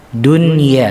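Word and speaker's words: دنيا: ketika kita membaca kata dunia Hai disitu Ada Anun yang disukun donut non yang di sukun bertemu dengan Ya kita nggak boleh membacanya Dwi agak boleh kita harus membacanya izhar jelas suaranya dunia ini termasuk pengecualian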